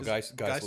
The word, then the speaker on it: Geisel: No, Geisel is how it's pronounced.